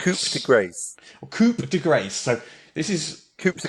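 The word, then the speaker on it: coup de grâce: the first one the first them the first pronunciation is one that is I think is very very very common and that is coup de Gras this degrades coup de grace so this is Coupe de grace yes so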